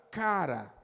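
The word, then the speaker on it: קרא: Na língua hebraica, se pronuncia cara.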